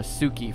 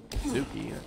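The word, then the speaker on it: Tsuki: Suki. Well, no, it's spelled T-S-U-K-I. So very close, very close. It's the T-S-U Su. Super fucking old school Japanese pronunciation kind of thingy.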